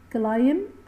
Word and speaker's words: climb: البي هنا سايلنت، اي ام بعدها بي مش بتتنطق، البي بتبقى صامته ملهاش صوت يعني مش بتتنطق، صامته سايلنت. climb a mountain ما نقولش climb، لا climb a mountain.